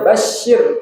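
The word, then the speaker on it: بَشِّرْ: Ini sebenarnya bacanya basyir, Pak. Basyir. Kemudian alladina amanu. Tapi kok di sini rohnya di kata basyir dikasih kasroh, wabasyiri. Wabasyiri harusnya disukunin, basyir.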